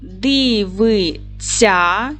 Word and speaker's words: дивиться: правилом дієслова наця шся вимовляємо і пишемо так вимовляємо дивиця чуємо ц ця А будемо писати дивиться вимовляємо смієся чуємо букву